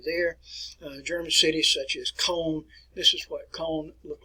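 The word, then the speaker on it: Köln: german city such as cone this is what cone looked like in the aftermath that church was at cone cathedral we pronounced it cologne but the icon cathedral it was damaged but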